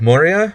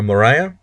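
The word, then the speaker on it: Maurya: the Great Indian ire of Moria or morah depending on how you want to pronounce it um I don't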